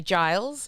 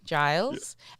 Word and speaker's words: Giles: And I want to apologize for saying your name wrong. I did say it wrong before. So what I'll do is I'll say Giles now, Giles, and then they can cut that out in